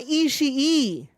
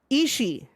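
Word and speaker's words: Ishii: way it is not isi e you do not pronounce that second I it's just isi um and as G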